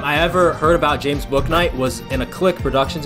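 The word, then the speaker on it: Bouknight: be one of the younger guys maybe it's book night maybe yeah okay two guests is not bad the first time i ever heard about james book night was in a click productions video i didn't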